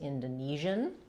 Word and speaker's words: Indonesian: So a person or something that is from Indonesia is Indonesian.